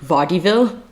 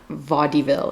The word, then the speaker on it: vaudeville: 1890 American, I looked it up how to pronounce it and my brain immediately pronounces it vaudeville, but it's not vaudeville, it's vaudeville.